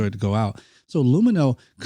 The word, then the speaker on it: Lumineux: That's Lumino, LUMINEUX. Again, LUMINEUX. Remember, it's spelled with an X, so you can X out the harm.